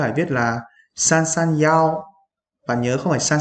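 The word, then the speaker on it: 幺: Thì ở chỗ này chúng ta sẽ không nói là y mà mình sẽ đọc là yao.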